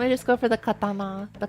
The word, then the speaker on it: katana: So, I'm going to guess in English you can just like stress the second stress the second syllable.